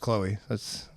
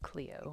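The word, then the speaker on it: Chloé: Everybody calls her just Chloe. I don't know. All right. I don't know. It's French. Not important right now. Chloe 9 to 5. It's a good movie, right? It's pronounced Cleo.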